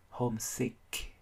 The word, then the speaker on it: homesick: Từ này không có vấn đề gì nhiều, nhưng vấn đề cuối cùng phát âm cho mình âm cuối là âm K, homesick.